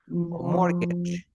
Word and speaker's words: mortgage: more more the gauge mortgage the mortgage ah the T we never pronounce the T then we have ballet